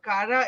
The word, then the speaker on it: Cara: speech and drama and my name is pronounced Kara that's an Italian name uh who gave you